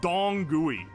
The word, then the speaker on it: Dong Gui: Otherwise known as Dong Gui. Like, D-O-N-G-G-U-I is the pronunciation.